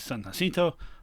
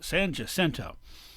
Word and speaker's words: San Jacinto: battle of san jacinto which actually would have been pronounced by the mexicans is san jacinto but the anglo's one and they're in charge now so it's san jacinto now um the the